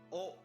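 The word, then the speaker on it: オ: e it's a excellent oh this is o or o it is the equivalent of the vowel o in english pronounce this as oh like in the word open oh yeah could trace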